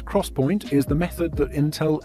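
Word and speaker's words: XPoint: most high-end optane products the 3D x-point which is pronounced as Crosspoint is the method that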